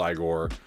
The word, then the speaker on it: Igor: i've seen screenshots of igor i know it's pronounced igor uh yeah not much else sorry uh i'll